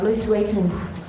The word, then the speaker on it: Louis Vuitton: Louis Vuitton 再说一遍。 Louis Vuitton OK。 When you say LV, it's not nearly as sophisticated as the ability to pronounce with a proper French accent.